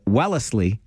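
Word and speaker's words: Wellesley: Grand River Transit is planning weekday bus service from Welssley or if you're from there, Wellsley, it's three syllables, don't you know, to Kosoga Mall.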